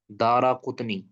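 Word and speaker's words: دارقطنی: کریں، امام دارا قطنی، دال کے اوپر زبر، را کے اوپر بھی زبر، دارا، قاف کے اوپر وہ پیش، قطنی، دارا قطنی، ٹھیک ہے۔ اس کا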